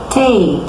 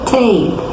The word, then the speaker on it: tape: Bem, todas as palavras que terminam com a vogal E, ela tem a vogal anterior, o som é igual ao do alfabeto. Eu vou ler tape.